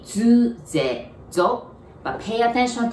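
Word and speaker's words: づ: And so as the, Zu, it's really D-U, so it should be like do, but we pronounce it like Z-U, zu.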